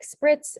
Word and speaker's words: spritz: And so examples of this are like spritz and waltz, where the S sound is spelled with the TZ.